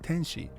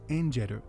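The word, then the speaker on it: 天使: that this is their name and it's not pronounced tenshi it's pronounced injeru a Japanese word with the name tenshi which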